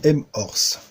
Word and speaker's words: M-Horse: pour une vidéo du m or ce alors je prononce à la française on voulait pas moins